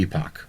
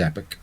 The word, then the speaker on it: epoch: Epoch an epic uh I prefer Epoch because it doesn't sound like just the word Epic oh okay fair